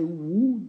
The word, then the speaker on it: would: like I would like ne dites pas W on prononce pas le l on dit i would like I would like